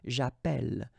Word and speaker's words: j'appelle: in the previous video, if you have double L like that, it will affect the pronunciation of the E. So actually it will open the sound, and that's the reason why you will get the sound E, okay?